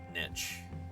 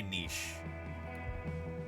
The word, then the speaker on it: niche: A lot of Americans pronounce it niche. I like to say niche. Niche sounds more European, more French, but uh I don't know.